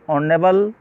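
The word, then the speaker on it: honourable: यहाँ पर ऑनेबल में एच साइलेंट है और यहाँ पर वोविल की ध्वनि आ रही है और जब वोविल की ध्वनि आती है तो आर्टिकल N का प्रयोग करते हैं।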